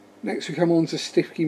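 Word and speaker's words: Stiffkey: we come on to stifky marshes although in the norfolk pronounced stooky yeah this is yeah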